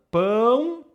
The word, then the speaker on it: pão: Pão é um exemplo perfeito. Pão. Presta atenção como eu pronuncio. Pão. Ó, meu som nasal aqui, ó. Pão. Pão. Se você não pronuncia o som nasal, vai soar para o brasileiro um outro som.